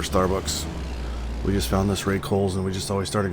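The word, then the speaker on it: Rae Cole's: We just found this Ray Kohl's and we just always started going there.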